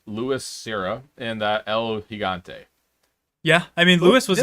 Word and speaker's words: Gigante: You pronounce the G like it. El Gigante.